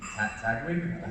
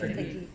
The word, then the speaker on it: Taguig: I think it's in Tagwig. How do you say it? Taguig.